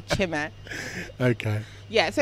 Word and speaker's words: Chime: Now, how many people pronounce it Chime? my mum. Oh, okay. I had to go to Nigeria to find out it's actually Chime.